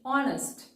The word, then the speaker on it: honest: Next, honest. Again, H is silent or the sound her is silent.